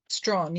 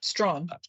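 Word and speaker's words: Strachan: number of cases including the Jamaican case of Stratton. I'm not sure how you pronounce it. Stron. Yes. S T R A C H. Yes. Strong.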